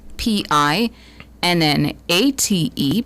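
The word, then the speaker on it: pinnate: Do not know if you'll have reason to use this one, but it's spelled again. P I N A T E.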